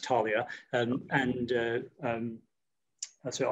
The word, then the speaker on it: Taulia: was so was this tell us where tullia or how you pronounce it where did that fit in in your technology journey certainly it's pronounced talia and and uh um